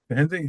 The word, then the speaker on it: Hindy: any thoughts or questions hindy is that is that the right way to say your name yeah that's perfect that is perfect yeah k um I